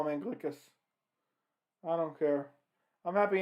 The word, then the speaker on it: Anglickas: anderson has more power than anthony rumble johnson and glixa is how you pronounce it julia sangliska i'm going to call him anglicus i don't care i'm happy anderson won because